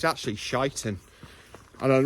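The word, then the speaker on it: Sheinton: doing today and I said I'm off to shanton now and he corrected me in the pronunciation it's actually shiten and I'm not joking that is actually the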